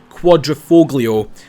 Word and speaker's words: Quadrifoglio: I believe that's how you pronounce it, not the way Jeremy Clarkson said it. The Quadriog. I do that is quite a quite a tongue twister of a name, but I believe it's Quadroofoglio.